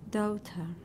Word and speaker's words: daughter: this is our daughter daughter oh okay daughter daughter that's it not ow but or daughter dirty supports supports the